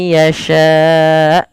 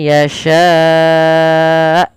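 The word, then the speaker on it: يشاء: Maka lafal yasha itu seminimal-minimal kita baca dengan 4 harakat. May yasha, tidak boleh may yasha karena dia dasarnya 4 harakat.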